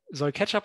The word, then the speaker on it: k3sup: in Kubernetes Und das andere Tool ist Ketchup, K3SUP, aber es soll Ketchup ausgesprochen werden, welches auf Remote-Servern K3S